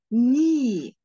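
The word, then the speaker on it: knee: هنقولها همم وعندي يبقى الاي تقول اسمها والايه التانيه تقعد ساكته يبقى الكلمه دي اسمها ني ني معناها ركبتي طيب وايه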